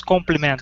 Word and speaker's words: compliment: in instead of compliment we say compliment yes compliment compliment yeah so the the first the first syllable is what's what is U stressed compliment